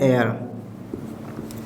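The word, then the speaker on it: heir: ये क्या हो गया एयर क्लियर इसमें भी एच साइलेंट तो ये क्या कहलाएगा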